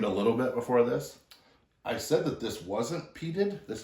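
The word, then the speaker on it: Islay: of them except for Isa am I saying it right yes you have Isa which is a wonderful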